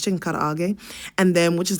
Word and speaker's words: karaage: We say chicken karaage sometimes online, but it's chicken karaage, and then which is like a Japanese kind of fried chicken.